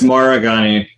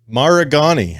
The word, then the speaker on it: Maragani: on but uh god how do you say your last name it's maragani maragani all right maragani and uh and we'll